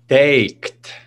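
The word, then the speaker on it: teikt: How do you say T-E-I-K-T compared to T-I-K-T? Taked. Taked. And then ticked.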